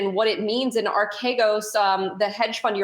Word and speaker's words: Archegos: is at stake here with the, is it pronounced Archegos? I'm sure I'm not pronouncing it correctly. Archegos.